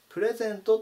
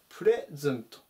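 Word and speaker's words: present: ているのでプレゼントって読みたくなるんですけれどもプレイズンとになりますここが勢じゃ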